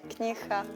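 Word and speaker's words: книга: She pronounces the g sound a little bit h. Knjiha.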